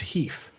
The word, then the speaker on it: HEIF: in Apple's format, which they revealed that as a company, they pronounced Heath. Heath. So Heif, which I get why you would head towards Heath.